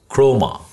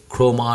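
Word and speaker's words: Khroma: সো এটা গেল writer, ওকে, আরেকটা আমি দেখাবো তোমাদেরকে, সেটার নাম হচ্ছে, এটা একটু উচ্চারণ করাটা খুব টাফ, হ্যাঁ, এটার নাম হচ্ছে ক্রোমা, কে এইচ আর ও এম এ, ক্রোমা ডট সিও, এটা এখন বিটাতে আছে, এখানে যে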